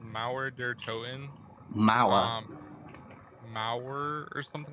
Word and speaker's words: Mauer der Toten: I'll pronounce it how I pronounce it, because I've seen so many people trying to pronounce the name and just can't. Well, I think it's called Mauer der Toten.